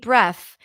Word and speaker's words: breath: I took a deep breath and jumped into the pool so here we have a br cluster BR as in red BR and then the th sound voiceless breath so that means that